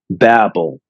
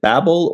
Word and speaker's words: Babel: When I looked it up to find out what the correct pronunciation was, it said in American English, it's pronounced Babel. In British English, it's called Babel.